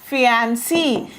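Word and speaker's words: fiancée: आपके साथ अगर आपकी मंगेतर है तो दो शब्द हैं हमारे, एक है हमारा फियांसी, FIANCEE, फियांसी, और एक है हमारा फियांसे। ठीक है, फियांसे जो है वो पुरुषों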